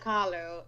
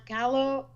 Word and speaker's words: Khalo: well i am carlo all across the board carlo the spelling is k h a l o and it's pronounced like frida kahlo which is i love